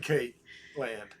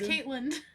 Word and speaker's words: Caitlin: with master rochi and kate land cakeland why are you saying my name like that excuse you well the proper pronunciation it's caitlin kate katelyn caitlyn there's not a space it's one word salutations tweet me davidson